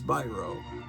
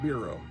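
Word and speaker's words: Biro: uh from Charles brro pretty sure it's birro Meer greenblat the famous toy collector in YouTube YT influencer taught me how to pronounce it cuz I think I was pronouncing it buo but I think it's birro and I could be wrong from L gleon Publications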